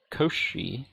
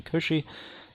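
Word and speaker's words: Cauchy: reminder reminder um a sequence is Koshi I believe is the pronunciation Koshi if um for any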